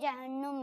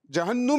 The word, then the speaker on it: جہنم: پھر وہ لوگ بے شک جائیں گے جہنم میں. جہنم نہیں ہوتا, کیا ہوتا ہے؟ جہنم. جہنم یہ تلفظ درست نہیں ہے.